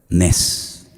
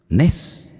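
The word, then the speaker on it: נס: ¿Sabes cómo se dice milagro en hebreo? Nes. Nes. N e s. Nes.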